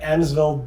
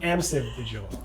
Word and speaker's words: Amsive: no longer at path interactive but you're at annasville digital did i pronounce that correctly no you did not it's amps of digital amsevil okay so you're at this new company which